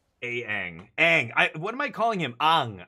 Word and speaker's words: Aang: I'm calling him Ang. It's because in Korea, like like the way the vowels are pronounced, that's what I'm going by. I'm not going by whatever the people who made the thing are saying it's pronounced by.